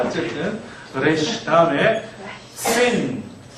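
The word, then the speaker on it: שִׂין: 네, 점은 나중에 붙인 거지만 어쨌든 발음이 전혀 다른 다른 발음을 구분하기 위해서 나중에 점을 찍었습니다. sin. 왼쪽에 점이 있다는 걸 기억하시고 아까 사맥하고 같은 발음이라고 생각하시면 되겠습니다. 시옷 발음이죠. sin.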